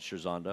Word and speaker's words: Scherzando: Bick, who owns the horse, calls it Scherzando. Does he? Good. Then He I'm going to never stick with that. corrected me on Scherzando.